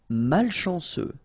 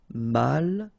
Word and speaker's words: malchanceux: Malchanceux. Final X not pronounced. C-E-U, ce. Malchanceux. Malchanceux.